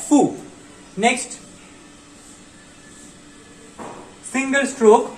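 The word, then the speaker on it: ふ: तो इसका जो प्रोनाउंसिएशन है वो हा, ही, हु होना चाहिए था, लेकिन ये थोड़ा एक्सेप्शन है, इसका प्रोनाउंसिएशन आता है फू।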